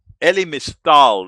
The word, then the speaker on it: Elie Mystal: Uh Elie Mystal, that's how you say it.